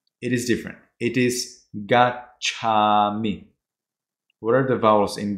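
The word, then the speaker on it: gacchāmi: Sometimes you don't pronounce it, you know, fully. We want this a strong a gacchami.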